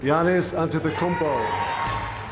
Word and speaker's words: Giannis Antetokounmpo: Giannis Antetokounmpo. Thanks Dirk for pronouncing his name right.